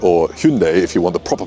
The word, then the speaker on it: Hyundai: Here we have a Hyundai or Hyundai if you want the proper pronunciation.